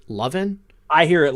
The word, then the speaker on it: Levin: tufa just saying yeah obviously mark levin is pronounced lovin mark is it really pronounced lovin I here at leaven everywhere but hey I'm from the South I'm